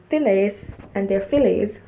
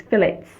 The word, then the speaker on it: fillets: The hooks of the pillars and their fillets shall be of silver. I don't think it's fillet like we pronounce it, it's fillets.